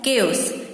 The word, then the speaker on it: chaos: CHAOS का pronunciation क्या होता है? केओस।